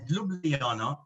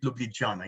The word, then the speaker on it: Ljubljana: So I researched it, and it seems it's pronounced Ljubljana. It's not Ljubljana, but perhaps Katya later on will tell us the real and the most correct pronunciation.